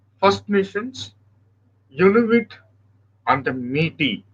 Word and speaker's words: Métis: Canada has got three distinct groups: First Nations, Inuit, and the Métis. S is silent. Métis.